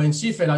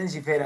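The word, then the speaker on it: Ensifera: encifer sí correcto sí y pronunciaron en cera o en sifera no no en cera dijimos en sifera entonces debe ser debe ser en sifera es palabra grave la penúltima sílaba fe termina en bocal abierta entonces la sílaba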